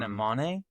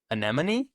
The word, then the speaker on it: anemone: But the the base um anemmon anemone is it anemy? A ne o n e an anemone. An enemy.